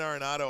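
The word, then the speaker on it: Arenado: Nolan Aronado on the Tigers.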